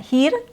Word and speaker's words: her: Next example is her her. So it's not here. It's not here her that sounds different. So the proper way, the accurate way is her.